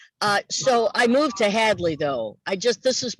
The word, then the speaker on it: Hadley: because average badly honey hadley or adley where we use the age okay sometimes people call it rage there it's the h and uh you know we call it the republic of hadley because it's not completely